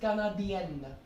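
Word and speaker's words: Canadienne: So like this, Canadien. The pronunciation changes, right? Canadien. Here we are not pronouncing the N. But here we are pronouncing the N because it is followed by an E.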